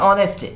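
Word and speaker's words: honest: हैं यहां पे देखिए ऑनेस्ट ऑनेस्ट में भी एच है ऑनेस्ट लेकिन हम एच को नहीं पढ़ते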